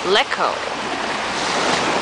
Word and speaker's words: Lecco: waiting around for the ferry to take me to Lecco, which is actually the right pronunciation for the island that I want.